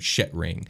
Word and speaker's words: Shetring: It's spelt Shet. Shet is an E and not I, ring. And it's all one word, Shetring.